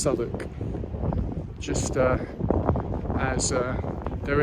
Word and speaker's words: Southwark: heard it referred you might think it says south walk but in fact um it's pronounced sonic just uh as uh there is no lysist